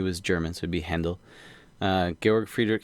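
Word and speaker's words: Handel: handle or you know a lot of people pronounce it handle but it's he was German so it' be handle uh gorg Friedrich hendle um composed his uh messiah in some Breakneck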